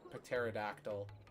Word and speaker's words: pterodactyl: You're a You're a pterodactyl. Except the pee is silent.